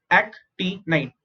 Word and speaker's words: actinide: AC is ac, ti is t, nid is night, actinide, actinide, lanthanide and actinide.